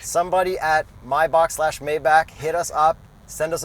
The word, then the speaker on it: Maybach: and then I also don't know if it's pronounced Maybach or my Bach I think it's my Bach I think it's my Bach too people say Maybach rappers say Maybach and I used to say Maybach somebody at mybox Maybach